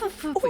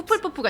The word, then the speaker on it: Hufflepuff: 허프푸프 이렇게 Ordinarily, 발음하네. perhaps. 후플푸프가 But it 아니라 runs in my 허프푸프 family.